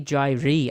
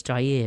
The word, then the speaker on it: Jair: I always want to say Jair Alexander, but it's Jair, isn't it?